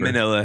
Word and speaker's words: Manila: It rhymes with vanilla. Type of paper. Manila.